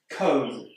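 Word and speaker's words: comb: Cone. This word's got a B at the end, but we don't pronounce it.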